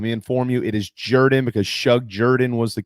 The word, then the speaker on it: Jordan: who don't understand that it's spelled jordan but pronounced jordan let me inform you it is jordan because shug jordan was the coach there that's